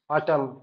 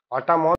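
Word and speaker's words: autumn: ইউটি ইউ এম এন অটাম অটামন তো হয় না এন সাইলেন্ট কেন হলো?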